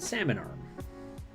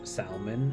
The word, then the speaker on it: Salmon Arm: because you know what i think if i did not grow up as a west coast canadian i probably would have read that as salman and been you know like silent l's don't really exist in in most of english like having a silent l um so i would probably mispronounce it as salman you're all over very